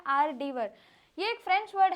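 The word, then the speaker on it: hors d'oeuvre: अब बोलने के लिए हमें क्या आ रहा है? हॉर्स डी वर। लेकिन बिल्कुल गलत है। बिल्कुल गलत है। हम इसको बोलते क्या हैं? प्रोनंसिएशन क्या करते हैं? आर डीवर।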